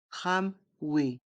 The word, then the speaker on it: tramway: tram le tramway ici ce mot se prononce à la façon anglaise et à la façon française c'est un mot anglais